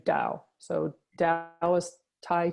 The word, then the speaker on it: Taoist: it's called the Taoist it's spelled ta o is T even though it starts with a T we kind of say Dao so dad I was